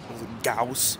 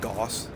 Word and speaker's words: Gauss: They have gulag instead of gulag. And Gauss instead of Gauss.